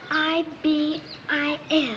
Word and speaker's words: ibis: It's I-B-I-S.